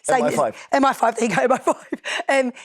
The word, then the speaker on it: MI5: The M15, MI5.